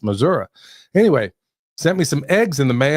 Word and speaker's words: Missouri: Yeah, that's how you actually say it, y'all. It's actually pronounced Missouri.